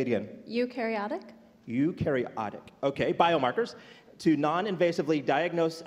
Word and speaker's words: eukaryotic: Erica, as the co-founder and an Arch Grants winning life science startup that leverages, I'm going to work on this pronunciation, Eukaryotic. Say it again. Eukaryotic.